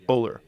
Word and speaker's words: Ohler: It's called Blitzed by, how do you pronounce his name? Norman Ohler, right? Ohler.